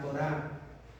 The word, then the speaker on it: Torá: saberla de memoria la torá con acento en la a si le ponen tora va a decir y luego la alacan